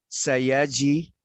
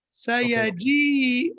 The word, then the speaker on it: سيجيء: سيجي. لا not سيجي اليوم. سيجي يوم أو غدا إن شاء الله. أحسنت. بارك الله فيك. This one here, it'll be, let's work on the pronunciation. سيجيء اليوم.